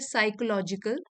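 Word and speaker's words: psychological: वाला next word है साइकोलॉजिकल P silent है यहां पे साइकोलॉजिकल मींस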